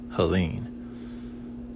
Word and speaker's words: Helene: The E is pronounced, so we want to make sure we add it here, not here, because this is a silent E down here. So H-E-L-E-N. Now this is a silent E, Helene.